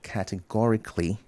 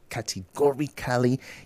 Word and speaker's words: categorically: The H is silent, so just connect it vehemently. And then categorically, not categorically.